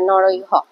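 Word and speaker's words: নরৈঃ: বহুবচন হল নর নরকার বিসর্গটা হ এর উচ্চারণ করবে নরহ এভাবে তাহলে বিসর্গটা মনে থাকবে দুতে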